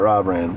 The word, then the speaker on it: Robrand: How do y'all say it in Minnesota? Robrand. Robrand? Rob Rand. No, not Rob Rand. Robrand. Okay. But it's spelled Robrand. Robrand. Yeah, that's how we go. But you did pretty good with your accent and all that. Yeah. Robrand. I can see that being how you guys pronounce it. Got my buddy Robrand over here. You gotta draw out the O.